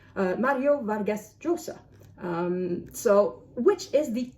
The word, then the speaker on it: Llosa: And according to what I've learned, this is supposed to be Mario Vargas Llosa. So the double L is supposed to be like a Y.